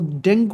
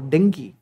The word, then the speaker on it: dengue: So next vaccine is for dengue or dengue, alternative way of pronunciation, right?